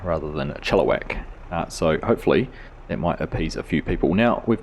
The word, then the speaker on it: Chilliwack: my eye I was saying it more like Chilliwack rather than a Chilliwack so hopefully it might appease a few people